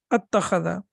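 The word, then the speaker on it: أَتَّخَذَ: mutaharrik with mutaharrik, then that hamzat al-wasl, that is sakin, is not pronounced. So it becomes attakhadha.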